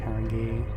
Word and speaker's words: Haringey: I can't pronounce it properly. Haringi. Haringey.